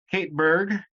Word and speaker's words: Kate Berg: I'm joined today with Kate Berg, correct? I'm pronouncing that right? Mm-hmm. No weird pronunciation there.